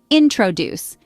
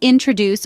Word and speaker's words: introduce: example the word introduce has three syllables but the stress falls on the second syllable introduce it's not introduce or introduce to perfect your pronunciation